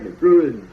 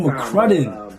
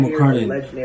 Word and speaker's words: McCrudden: Oh, no, Mike McGruden. O.T. Healy. Bro, you're saying his name wrong. It's Michael McCrudden. You're saying his name wrong. It's Michael McCrudden.